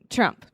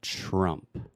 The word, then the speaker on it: Trump: So when I'm thinking about something and I don't know exactly what to say, I say That is the schwa sound, right? So we're saying Trump. Trump.